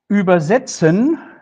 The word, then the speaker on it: übersetzen: Übersetzen if I stress the second syllable, then the meaning is translate. So here we have a meaning change. And if I stress the first syllable, übersetzen, then it means something like carry over.